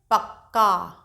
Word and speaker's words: पक्का: एक जो आधा व्यंजन है उसको हल्के से बोलना है, और जो पूरा है उसको स्पष्ट तौर पर पूरा उच्चारण करना है। कैसे? पक्का, पक्का।